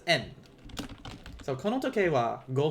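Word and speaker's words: 円: And remember, in Japanese, even though it's written as Y-E-N, yen, it's pronounced as en.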